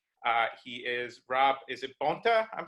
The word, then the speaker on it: Bonta: and San Leandro he is Rob is it Bonta I'm saying it right yeah Bonta Bonta yeah thank you so much for speaking